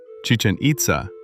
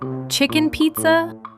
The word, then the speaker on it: Chichén Itzá: The first wonder chichanita in Mexico. Wait, how do you pronounce this one? Chicken pizza.